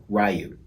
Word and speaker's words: Ryu: have this in hand yes that's how it's pronounced ryu looks amazing i've wanted